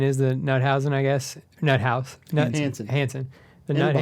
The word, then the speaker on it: Hansen: I just grabbed the Nuthausen. Is that how you pronounce it? Hansen.